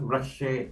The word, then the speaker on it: Rachel: Ito, si Rachel Santos ng Dipolog City. Norman? Actually, it's the way she pronounces her name is parang Rushe. Okay. Rushe, something like that.